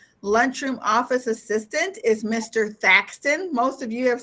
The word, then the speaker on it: Thaxton: office assistant is mr thaxton most of you have said what's his name how do you say that it's spelled here for you it's t-h-a-x facts ton and he is here